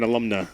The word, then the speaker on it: alumna: You're an alumna. Alumna. Yeah, you're an alumna. These Latin words. Yeah. Alumna. I always was saying alumni, and then I found out that was wrong.